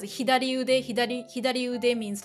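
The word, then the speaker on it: 左腕: Yeah, it should be pronounced as hidari ude.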